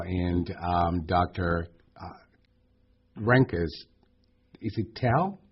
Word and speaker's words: Tal: Renkas, is it Tal? How you say I pronounce it? Tal, yeah, T-A-L, yeah.